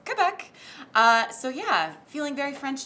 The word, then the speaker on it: Quebec: department today called Quebec part of you wants to say cliff Eck you know cuz you think that's very French but we actually went on Google for the pronunciation and it's Quebec so yeah feeling very